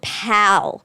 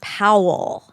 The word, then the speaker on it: Powell: that name a lot and I wrote Pal. P A L. Oh, that would have been cute. Pal Peralta. You're you're old pal. Peralta. Yeah, that's what I thought you guys were saying. But it's Powell.